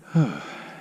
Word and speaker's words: Conch: nice from conch Lake con you're pronouncing it wrong it's con con it's a hot morning